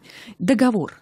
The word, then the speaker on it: договор: согласиться либо меня поправить договор правильно договор Да договора Ну собственно Первое слово было правильным то есть ударение остаётся